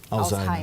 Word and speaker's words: Alzheimer: É Alzheimer a pronúncia correta? Isso, é alemão. Alzheimer.